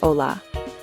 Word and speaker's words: hola: Remember the h is silent, so we say hola.